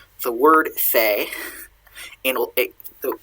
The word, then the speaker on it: fae: word fae and it though it's fey now in modern